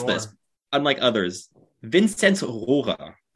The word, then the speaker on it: Vinzenz Rohrer: Vinzenz Rohrer is the pronunciation in German, but honestly, Vinzenz is easy for me. Rohrer is really tough to pronounce, especially in English. It's like Rohrer. So at Ottawa 67's games, the pronunciation of his name is always so funny because everyone's just like Vinny Roar. It's like his name is basically just like Vinny Roar now.